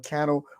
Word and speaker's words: Cannell: I want to give a shout out to Mr. Sean Cannell, Rhymes with Channel, and Mr.